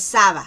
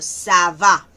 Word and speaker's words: ça va: Ça va, no es ça va, sino ça va.